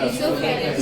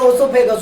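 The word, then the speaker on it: oesophagus: इससोफेगस। इससोफेगस। लोग बोलते हैं ओसोफेगस। उसको समझाइएगा। ओसोफेगस नहीं है। इससोफेगस है वो। क्या है? इससोफेगस। यहां वो साइलेंट रहता है इससोफेगस बोलते हैं उसको।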